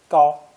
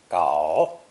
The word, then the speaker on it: 搞: This character is composed of the hand radical and gao from today's lesson. It's pronounced third tone, gao, gao, and is very common in speech because, somewhat like dong, it can replace many different verbs.